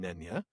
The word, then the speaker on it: Nenya: We do have, though, a little bit of word nerdery on Nenya. Now, it is from Quenya, which rhymes with Nenya.